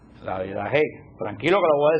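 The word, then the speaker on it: Didaché: Se escribe, hay gente que escribe didache y hay gente que escribe didaje. Yo lo leo en español.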